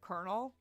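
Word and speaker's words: colonel: you think about it the word konel there's no R in there it's a French word it's coral Coral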